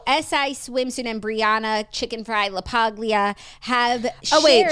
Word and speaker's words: LaPaglia: So SI Swimsuit and Brianna Chickenfry LaPaglia have Oh, wait. She pronounced her name in the video. Hold the G.